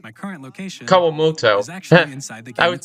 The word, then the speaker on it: Kawamoto: Kawoto. My current location. Kawamoto. I was pronouncing it wrong.